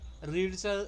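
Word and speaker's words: read: काय तुमचा drank okay रीड रीडच राहतो ओके रीड रीडच राहतो बट त्याला वाचताना आपण काय म्हणतो रेड असं म्हणतो बट ऍक्च्युली स्पेलिंग तेच असतं आर इडी ठीक आहे स्पीक थर्ड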